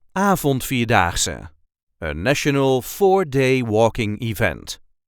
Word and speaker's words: Avondvierdaagse: a regular Dutch accent Avondvierdaagse, a national 4-day walking event. This is how we say Avondvierdaagse. Avondvierdaagse. There is a light emphasis on the first syllable.